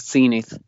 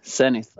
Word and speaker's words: Zenith: do you call it the American pronunciation is scenic and the British would be sinneth I think so it's